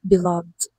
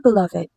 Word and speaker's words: beloved: So if we're going to use this word as a noun, meaning someone you love or romantically involved with, yung kanyang pronunciation ay beloved. Example, who is your beloved? And if gagamitan naman natin siya as adjective before a noun, ang ibig sabihin niya is much loved. So same pronunciation nung kanina, beloved pa rin.